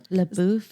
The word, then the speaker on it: LaBeouf: LaBeouf, yeah.